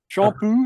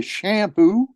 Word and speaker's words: Champoux: spelling c-h-a-m-p-o -u-x has an x-ray and uh shampoo is the way you pronounce it but Americans say shampoo because we can't do that shawl you know